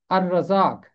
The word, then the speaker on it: الرزاق: اب چند ایک مثالیں، جیسے کہ الرزاق، یہاں لام کی آواز خاموش ہے کیونکہ رے حرف شمسی ہے۔ اسی طرح پڑھیں گے